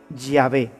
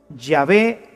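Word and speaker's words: Yahweh: soy el que soy se pronunciaría o se diría ya ve ya ve te envía así es como habría sonado en hebreo antiguo lo que dios le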